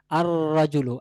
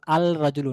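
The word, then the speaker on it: الرجل: চাই লুকটি তাহলে সেক্ষেত্রে বলতে হবে আর রাজুলু আরজু আল রাজুলু না আর রাজুলু কারণ এখানে রা হরফটি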